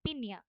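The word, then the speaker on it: piña: পিনা বাট এই প্রোনাউন্সিয়েশনের মানে এক্সেন্টের কারণে এটার প্রোনাউন্সিয়েশন হবে পিনিয়া pineapple okay so next we have লা ফ্রেসা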